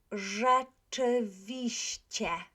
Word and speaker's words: rzeczywiście: And we also have the CI, which we know, right, if we put this I here, we know that it's pronounced exactly like C accent, right? So let's look at it. Rzeczywiście, rzeczywiście.